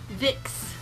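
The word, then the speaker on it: Vicks: I'll heal that guy Vick it rhymes with dicks which is an awesome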